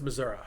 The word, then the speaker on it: Missouri: back years ago when i was in independence missouri and that is how you say it by